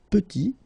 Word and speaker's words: petit: Final T is not pronounced, and then when you add this E at the end, you get the sound T, petite.